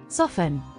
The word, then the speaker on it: soften: Soften. Rule 2. The letter T is silent in some words, especially when it follows an S or is part of the STLE at the end.